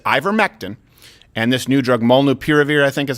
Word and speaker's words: molnupiravir: Could it be that they ivermectin and this new drug, molnupiravir, I think is how it's pronounced?